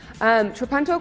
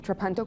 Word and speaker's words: Trapunto: I had to look up how to pronounce that just because reading it I was like, it's not an English word. It is Italian. Trapunto quilting dates back to